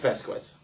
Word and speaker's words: Vasquez: Adrian Vasquez has several questions for you, Meathead. It's Vasquez. I'm part Venezuelan. I know how to say this stuff.